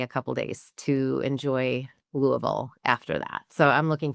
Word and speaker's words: Louisville: Well, you said it wrong. It's Louisville. Um, so I was educated by a server one year when I was at this conference and I said Louisville and he said, "No, you have to say it like you have marbles in your mouth."